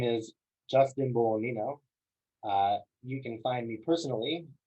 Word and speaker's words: Bolognino: And that's my handle, J Bolognino. The G is silent.